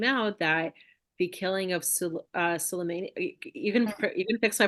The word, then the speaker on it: Soleimani: And then sources came out that the killing of Soleimani. You can fix my pronunciation. Uh-huh. Soleimani.